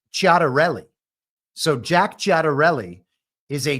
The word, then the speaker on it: Ciattarelli: And I'm going to rely on my half Italianness and the couple semesters of Italian I studied in college, and assume the correct Italian pronunciation here is Ciattarelli.